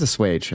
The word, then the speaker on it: assuage: How do you pronounce this? Assuage. It is assuage.